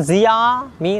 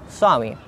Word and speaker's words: Xiaomi: say that about this that's not zia me that guy swami swami that is like that you